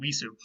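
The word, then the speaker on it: wīs: what happened in Latin visu. So our word wise actually just comes from the weid root. It was originally pronounced vis in Old English, which sounds more like the weid root.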